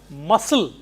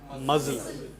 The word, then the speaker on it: muscle: Whereas this is muscle and not muzzle.